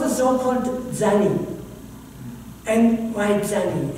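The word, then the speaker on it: Zanni: And why Zanny?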